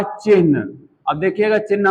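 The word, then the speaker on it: चिह्न: शब्द था चिन्ह। अब देखिएगा चिन्ह मैं कैसे-कैसे लिख रहा हूं। आधा ह और न उच्चारण यही करना चाहिए।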